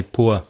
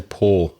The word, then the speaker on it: poor: up-to-date explanation is that there are two ways to pronounce the word which are accepted okay so P double